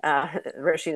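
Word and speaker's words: Róisín: And I was reminded of this week when this Roisin Murphy, Roisin is how you pronounce her name, was canceled for she was outed.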